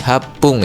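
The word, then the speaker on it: 八分: Nah, 8 menit juga sama aja ya. Ketika dia digunakan dalam angka di atas 10 misal 18, 28, 38 dan seterusnya, maka angkaannya itu diubah jadi hapung ya. HC-nya itu jadi hapung gitu ya.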